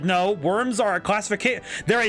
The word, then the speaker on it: wyrm: basic sea monster uh how is a worm one oh like w-y-r-m like uh w-y-r-m worm I I wish there